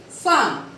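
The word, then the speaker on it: faim: Now the next point, point number 17 says that if AIN and AIN, if AIN altogether is there and AIM altogether is there, the sounding will be on. Will be have the nasal sound.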